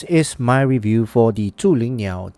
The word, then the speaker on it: Zhulinniao: Now, the brand name is Zhulinniao, okay? This is the proper pronunciation. I'm not too sure how you guys gonna pronounce it, but follow, repeat after me. I'm gonna repeat this name very often. Zhulinniao.